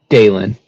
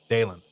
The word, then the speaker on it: Dalen: else nope that's exactly right okay and then pronounce your name for me dalen dalen that's what I figured all right very good